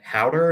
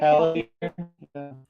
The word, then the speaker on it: Haldir: And Howder is the elf in the corner here. Mm-hmm. I think I probably butchered the way you're supposed to say that. I think you did. Haldir, Howder, I forget exactly how, but pun intended.